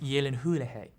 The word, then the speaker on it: Gyllenhaal: with the 2010 film starring jake gyllenhaal it's pronounced yellen hulejay it was set between sounds of time and